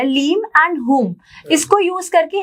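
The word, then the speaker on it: ह्लीं: माँ बगलामुखी का बीज मंत्र है लीम, उसकी प्रोनाउंसिएशन लीम है, वैसे उसको हलीम बोलते हैं।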